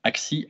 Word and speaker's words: ACSI: qu'ils ne savent pas ça se prononce axes y ait à x et